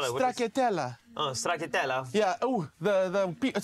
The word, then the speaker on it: stracciatella: What, how do you spell it? Stracciatella.